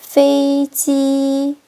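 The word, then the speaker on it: 飞机: 비행기 페이지 일성일성으로 처음부터 끝까지 발음 끝날 때까지 유지해 주세요.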